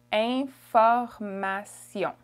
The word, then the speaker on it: information: Information. Information. Information. Okay? Information. So the beginning is a nasal, it's ain. And the last sound is also a nasal, it's on. Information.